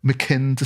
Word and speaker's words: Mackinder: I think it's Mackinder. Mackinder, sorry.